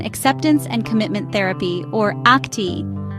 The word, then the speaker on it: ACT: Welcome to this video on acceptance and commitment therapy, or ACT, pronounced like the word act, not the letters ACT.